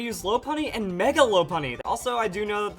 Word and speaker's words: Lopunny: is how to use low py and mega low py also I do know that the correct pronunciation is low py I've always said La py so let's just get into the stats now